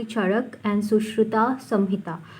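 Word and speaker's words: Charaka: आपकी बुक में चरक दिया हुआ है, लेकिन that is एन S miss pronunciation. It is actually चरक and Sushruta Samhita.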